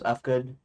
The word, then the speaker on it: Uhfgood: My name is II, otherwise known as Ufgood, and spelled UHFGOOD because the name I thought had a silent H in it, which it did not.